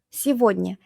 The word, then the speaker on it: сегодня: This one comes from сегодня. Сегодня. It means today. Сегодня, this day, today. And instead of saying сегодня, we say сегодня.